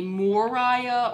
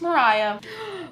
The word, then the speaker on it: Moriah: People say my name wrong too, because it's spelled with an O and not an A. So sometimes people call me Moriah or Moriah or Moria, but it's just Mariah.